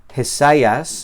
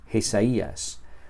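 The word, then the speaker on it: Ἠσαΐας: Esta palabra tiene esta combinación a que normalmente sería un diongo, pero esta palabra no se pronuncia Jesayas, sino Jesías, porque lleva la diéresis que está aquí, que indica que la yota se pronuncia Jesías.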